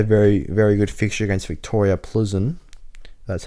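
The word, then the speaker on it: Viktoria Plzeň: but had a very very good fixture against Victoria Pleasant that's how you say it and by Neymar's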